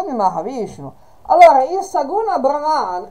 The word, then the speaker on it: Brahma: Brahma con la lunga sulla A, finito con, uno dice la A finale, un po' con l'accento sulla A, l'ultima A, è il demiurgo, l'architetto di questo particolare universo.